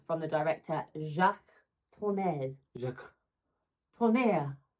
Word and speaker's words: Tourneur: Tourneur, I think, has how you pronounce it.